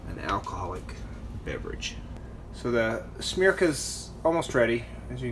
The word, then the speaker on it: Smreka: the berries start to sink should have some smirk I tell you that's how you pronounce it Weejun beer have all dried they've